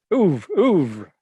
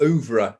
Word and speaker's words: oeuvre: Oeuvre. Yeah. Or oeuvre, if you want to pronounce the R-E at the end, but I think the French say oeuvre.